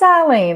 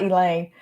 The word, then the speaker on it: Eileen: republicans call me elaine it's not elaine but it's just easier to say because i'll say instead of saying eileen you're saying it with an l which is pronounced l-lean so it's better just